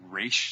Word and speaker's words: Ra's al Ghul: Because I think Raish sounds weird. I think that's the Arabic pronunciation.